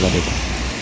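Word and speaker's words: Valletta: La Valette qui bon c'est la prononciation en français mais en fait ça se dit Valetta ça se prononce Valetta voilà donc nous voilà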